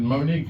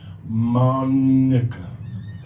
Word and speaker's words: Monica: And then I said, Monique, okay, cool. And she said, that's not how you say it. And I was like, how you say it? And she said, Monica. And I was like, that's not how you say that, I don't know.